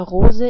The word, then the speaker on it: Rose: The color of a rose is red. The word for rose is the same in German, but it's just pronounced differently. In German we pronounce it like Rose, and Rose is a female noun in German.